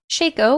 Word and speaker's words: Shaco: ap to 90 ap shaco which sounds like fakeo which is how i know how to say it correctly now q orange smoke vfx